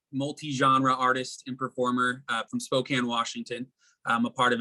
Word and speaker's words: Spokane: You know, most people end up saying Spokane, so you get props for saying it right.